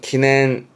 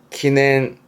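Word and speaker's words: 祈念: 발음은 기낸 기낸 응 아니요.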